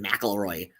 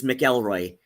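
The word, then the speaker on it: McElroy: the way people pronounce melroy so many people pronounce it mroy like no it's melroy it was it was melroy M apostrophe g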